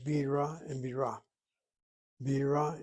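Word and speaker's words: בירה: Bira is the word for capital, or rather beer, and Bira, with the accent on the last syllable, is the word for capital city. Or maybe I am mistaken.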